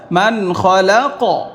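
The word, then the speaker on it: مَنْ خَلَقَ: জবর ক মান খলাক এখন এখানে একটা ছোট্ট ত আছে এখানে আমি ওয়াকফ করতে পারি তাহলে উচ্চারণটা আমি কি করব মান খলাক না পড়ে মান খলাক এই যে উচ্চারণটা মান খলাক যেহেতু কফ কলকলা এখানে কি হবে কলকলা করিতে হবে তাহলে এখান থেকে আলালামুমান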